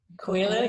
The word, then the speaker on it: Coelho: I don't know how to pronounce his last name. Coelho, yeah.